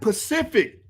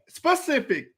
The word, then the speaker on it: specific: the word is not this is really frustrating me the word is not pacific mari what's the word what's the word how do you say it specific why is he saying pacific like the pacific ocean why is he saying